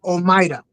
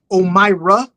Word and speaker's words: Omaida: Okay, so the way you would say it is Omaida or Omira. I call her Maida. Okay. But she goes by, like, if you have a problem pronouncing, she's fine with Omira. She's fine with that.